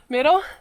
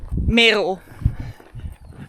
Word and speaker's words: Merel: Merel, we also discussed how to say her name. How do you actually say it? Merel.